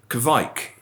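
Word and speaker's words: kveik: a special yeast called kevik rhymes with mike uh which comes out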